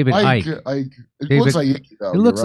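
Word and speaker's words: Icke: But here's what David Icky, that's how you say his name. Or is it David Ike? I It looks like though. It looks like Icky, but I think it's Ike.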